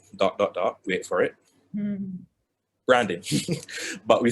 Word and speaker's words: BHRanding: we call it dot dot wait for it branding but we spell it b h r a n d ing